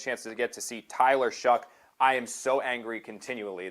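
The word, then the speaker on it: Tyler Shough: They're going to chance to get to see Tyler Shuck. I am so angry continually that his name is not pronounced Tyler Show.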